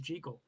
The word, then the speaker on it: Jekyll: I interrupt real quick the proper pronunciation of the name is jical is it really yeah